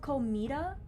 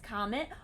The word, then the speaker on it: Kometa: It's pronounced Comet.